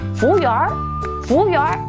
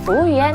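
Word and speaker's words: 服务员: 중국 사람들 중에 베이징 분들은 얼 들어간 발음을 굉장히 좋아하기 때문에 부우열 이렇게 부르시는 분들도 있으세요. 그 외의 지역은 보통 부우연 하시면 다 알아들으실 수 있으실 거예요.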